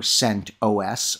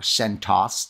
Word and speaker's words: CentOS: of aws marketplace amis for sent os or centos depending on who's pronouncing it and notice i would